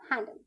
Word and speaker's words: handle: Pronunciation of हैंडल, HANDL, हैंडल। बच्चों यहाँ पर ई साइलेंट है, HANDL, हैंडल। ई साइलेंट है जैसा कि अभी आपने दोबारा सुना है।